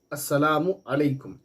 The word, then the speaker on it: السلام علیکم: السلام علیکم، السلام علیکم ورحمۃ اللہ وبرکاتہ، یہ ہے صحیح تلفظ۔ اس کے بعد اس کمنٹ باکس کا